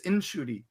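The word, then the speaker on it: Ncuti: Like, his mom told him, "No, your name is Inshuti."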